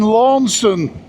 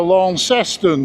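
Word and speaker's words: Launceston: Jeremy lives in Tasmania in Lawnston or Lanceston depending on how you want to pronounce it.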